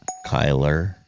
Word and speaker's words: Kyler: Kyler Murray is not a... Did I not spell that right? What the hell? Where's fucking Kyle Murray? Kyler. Oh, what is it? Kyler, not Kyle.